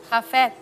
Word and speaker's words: Hafez: Hafez. ¿Quién es? Bueno, Hafez realmente con él... Es como café pero con ja.